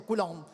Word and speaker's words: Coulomb: Mi raccomando, non sbagliare l'accento. Occhio all'accento Coulomb. Che quando a chi lo stai dicendo? Alla professoressa, no, perché molte spesso mi dicono la forza di Coulomb.